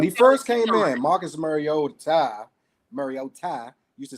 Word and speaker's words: Mariota: Let's pronounce my man's name right. Put some respect on his name. Mariota. That we've been pronouncing all these years wrong, but okay.